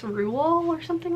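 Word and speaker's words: Roald: is um matilda by rule doll um which by the way did you guys know we were saying his name wrong this whole time i can't believe that i've always thought it was rolled and then i read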